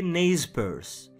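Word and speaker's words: Nez Percé: Petite anecdote, même en anglais, ils sont appelés ne percé bien que prononcé naze PSE.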